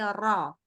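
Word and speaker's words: ر: kita rnya kita perbaiki jadi rnya itu ternyata bukan Ra tapi ro silakan Iya diulang lagi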